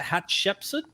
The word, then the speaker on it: Hatshepsut: How do you pronounce it? Hatshepsut.